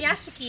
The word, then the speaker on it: Rayashki: It was located high up within Did the I Arctic spell that Circle, wrong? It's and it was Rayashki, not frigid cold Rawashiki.